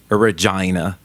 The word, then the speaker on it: Regina: Il faut prononcer Regina comme Vagina.